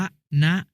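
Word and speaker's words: วนะ: วิ่ง วน รอบ สนาม วัน นะ อ่าน ว่า วะ นะ หมาย ถึง ป่า ไม้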